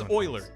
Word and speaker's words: Euler: Yeah, this is Euler, E-U-L-E-R. That's, Euler-ing. It's, you pronounce it Euler.